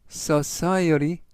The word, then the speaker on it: society: 7의 합은 10이다라는 뜻이 되겠습니다 이번 단어는 society society 리라고 발음하시면 되겠고요 이때 강세는 중간 부분에 있는 알파벳